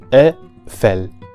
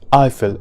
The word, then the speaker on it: Eiffel: first word is FL a fell this word is never pronounced as Eiffel in French but FL with an